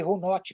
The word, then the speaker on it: runot: tem a expressão runo runo se escreve runot com tema mas não pronuncio o que runo que significa palavra mágica